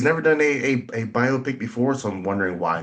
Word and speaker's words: biopic: you a biopic or biopic which one do you go with I I tend to say both but heard that that uh the proper way to say it does not rhyme with myopic biopic it is a